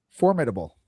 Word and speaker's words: formidable: You cannot pronounce the word formidable correctly is maybe the most pressing thing to me. Formidable.